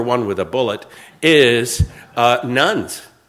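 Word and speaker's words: nones: You got to spell it carefully. There is not a significant growth in the population of nuns, but there is a significant growth in the population of nuns, N-O-N-E-S.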